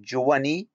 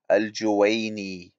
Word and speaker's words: al-Juwaini: Is it Juwani, as Yasir Hanfi says, or is it al-Juwaini? Please correct your pronunciation.